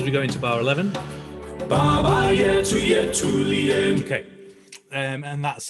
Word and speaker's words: Baba Yetu: But for our pronunciation here, we're always aiming for lovely open Italian vowels. So good open a, e, u along the way. And we're always going to try and put the weight on the penultimate syllable. So where there's only 2 syllables, then it's always going to be the first.